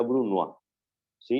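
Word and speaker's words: brunoise: el bruno a chip se escribe bruno jce se pronuncia bruno a sí en este caso es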